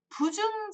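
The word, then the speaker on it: 不重: 나와요 군자라는 사람들은 군자는 부중 즉 불이니 즉 불이라 주충신 하며 무우 불려 기자역과 물계 이라라고 했습니다 군자라는 사람에 대해서 얘기를 해주십니다 군자는 부중 자 발음이 불자 발음을 부로 하십니다 부중 자 중 무겁지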